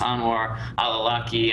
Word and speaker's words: Anwar al-Awlaki: And then I know that, I think his name is pronounced Anwar al-Awlaki.